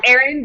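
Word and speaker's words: Ahren: It's Aaron, but it's spelled A-H-R-E-N.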